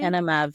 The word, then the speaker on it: ENMAV: And that is called Anim. Am I saying it correctly? Anav.